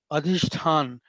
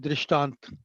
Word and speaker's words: अधिष्ठान: पता होना चाहिए कि अधिष्ठान, अभी तक बहुत से भाई बहन हैं जो उसको अधिष्ठान को, अधिष्ठान के इस वर्ड्स को ऐसे प्रोनाउंस नहीं कर पाते। वो कई लोग उसको बोलते हैं दृष्टांत।